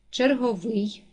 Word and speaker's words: черговий: падає на другий склад черговий наголос падає на третій склад осока наголос падає на